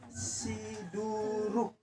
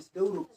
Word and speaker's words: Siduruk: Ini bacanya Siduruk. Siduruk namanya. Bukan Sidauruk.